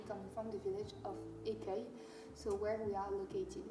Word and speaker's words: Écueil: How do you pronounce it again? Écueil. Écueil. Écueil, yeah.